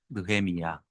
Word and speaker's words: 느헤미야: 그 나함, 야훼 플러스 나함, 나훔 플러스 야훼 해서 나함 야훼, 나훔 야훼 하는 것을 순화시켜서 연음작용을 해가지고 히브리식 발언을 하면 느헤미야 이렇게 발음이 됩니다.